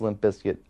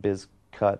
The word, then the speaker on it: Limp Bizkit: him that much uh originally it was always pronounced Limp Biscuit I believe but originally the name was spelled